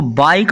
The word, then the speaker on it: bike: Example के तौर पर BIKE, इसको बाइक पढ़ेंगे नहीं तो ई हमेशा ए की आवाज़ निकालना, इसको बाइक के नहीं पढ़ना, बाइक पढ़ना है।